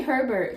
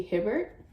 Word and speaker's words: Hibbert: Always say Herbert. Like, it's my first instinct to think Herbert, but it's obviously Hibbert, or could be pronounced something else if something's silent, but I don't know.